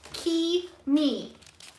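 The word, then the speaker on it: Cimi: It's pronounced Key me.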